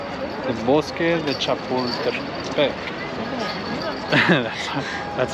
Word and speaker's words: Chapultepec: The Bosque de Chapultepec.